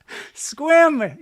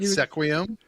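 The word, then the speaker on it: Sequim: Squim. Well, at least you know how to pronounce the names up there. In your 15 I learned years. finally. Not Sequium. You never said Sequium.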